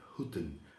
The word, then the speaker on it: Hooten: I asked Tom how to pronounce your last name, and he said Hooten. And I said, for sure, the American people don't call you that way. He said Hooten. I said, oh, that's different pronunciation. Yeah, But I really like to pronounce it the way that it should be.